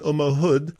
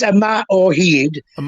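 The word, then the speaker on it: Yma o Hyd: and forgive my pronunciation omahood which was the the anthem of Wales at the World Cup tell me about that not a very good pronunciation but it's a mat or heed which means yeah that's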